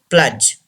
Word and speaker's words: pledge: The fifth word, pledge. D should be silent.